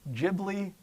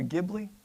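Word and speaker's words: Ghibli: Does anybody know if it's studio Gibli or Gibli? Yeah. Whatever you have to say. Both are accepted pronunciations.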